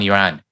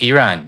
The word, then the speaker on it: Iran: did a video on Iran, that many people were saying that I was pronouncing it wrong. And that is pronounced Iran, not Iran.